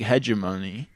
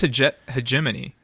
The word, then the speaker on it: hegemony: I think that's like hegeimony. He hedgeimony. I think it's hegemony.